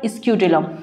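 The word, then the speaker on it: scutellum: दिख रहा है ना, दिस वन इज कॉल्ड स्क्यूटिलम।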